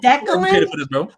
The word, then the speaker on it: Declan: You see, is bro, it Declan? You're too educated for this, bro. You're too educated for this. Is it two syllables or that's supposed to be three? Len. Say it with me. Declan.